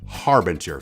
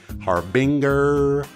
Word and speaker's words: Harbinger: harbinger by the way it is Harbinger folks Harbinger if I hear another youtuber mispronounce it our Binger ha Brenda habanero it is ridiculous with